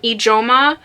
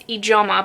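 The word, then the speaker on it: Ijeoma: is written by um ajoma olu and i'm really sorry if i'm pronouncing that last name incorrectly i know it is ijoma because they say it a few times in the book the audiobook that i'm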